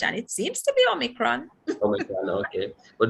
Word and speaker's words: Omicron: a new variant um omicron is that that's how it is pronounced that's what i hear them saying omicron you know when i saw it first i i did say a micron but i i'm hearing omicron and i've done some